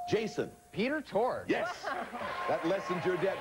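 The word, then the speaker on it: Peter Tork: And my name rhymes with dork. Jason. Peter Torg.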